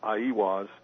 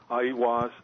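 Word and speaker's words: Aiwass: Well, I think the Book of the Law, which Crowley supposedly wrote through automatic writing, Crowley attributed to, I believe the way it's pronounced is Aiwas.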